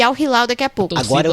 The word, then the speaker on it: Al Hilal: seu adversário, que sai de Manchester City e Al Hilal daqui a pouco. Agora eu vou falar certo, Al Hilal. Aí, ó. É isso aí. Eu havia pronunciado errado aqui e me comprometendo. É Al Hilal.